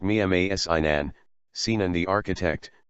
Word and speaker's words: Mimar Sinan: with circumflex, Ottoman Turkish, Modern Turkish, Mimar Sinan, pronounced Mimar Sinan, Sinan the architect, c.